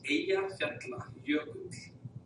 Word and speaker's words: Eyjafjallajökull: It's Eyjafjallajökull. That's Eyjafjallajökull. So the two L's in the end you don't say it like a T, like someone was suggesting.